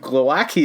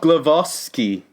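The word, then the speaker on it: Głowacki: well he's also saying our pronunciation of Glowacki is wrong it's also blue glove off ski now that's a bridge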